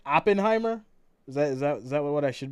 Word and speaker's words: Oppenheimer: Oppenheimer? Is that what I should be saying? Oh, let me. Yeah, Oppenheimer.